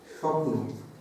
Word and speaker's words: স্বপ্ন: অন্তস্থ ব যেটা হচ্ছে স্বপ্ন, দেখো এখানে বয়ের উচ্চারণ পাচ্ছ কিনা? পাচ্ছে না। উজ্জ্বল বানান আমরা লিখছি, এই বয়ের উচ্চারণ পাচ্ছে না, তাহলে পরিষ্কার হয়ে গেল।